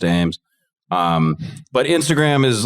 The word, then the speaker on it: Eames: at underscore e-a-m-e-s it's pronounced aims um but instagram is